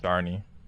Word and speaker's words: Sharne: Sharny. What a name. Cha. It's like Barney, but spelled with SH.